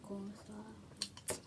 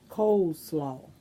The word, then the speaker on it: coleslaw: I'm about to be finished with my corn slaw. Corn slaw? That's how you say it, corn slaw? Coleslaw.